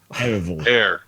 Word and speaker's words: Ereval: Ereval. Era. Era. Hang on, I'm going to write it phonetically. Ereval. Got it. So like aerosol.